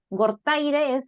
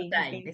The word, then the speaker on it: Gortaire: Y acá me acompaña Maite Gortaire, ¿así se pronuncia tu apellido, Maite? Así es, Ah, Maite ok, ok. Gortaire, sí.